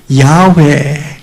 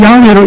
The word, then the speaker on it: 야훼: 중에 상당히 많은 수가 이 단어는 야훼 그렇게 발음됐을 거다 이렇게 주장하는 사람들이 늘어나게 된 것입니다.